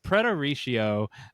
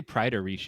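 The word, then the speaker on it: praeteritio: English accent today um they say prideo it's p r AE and they say the AE is an i and um so it's prideo um is when someone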